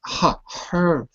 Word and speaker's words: hurry: There's no rolled R there. Not ri, but re. Hurry. You got to work on your R's. When you say the R, it's with your lips, not with your tongue.